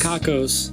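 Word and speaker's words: Cockos: Cuckoos? Cuckoos? Kakos? Kakos? Kakos.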